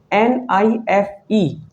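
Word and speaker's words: knife: You see five letters, okay? But how many sounds you have to pronounce? You pronounce only four sound. NIFE, NIF, not knif. You pronounce knif, not. You pronounce is NIF.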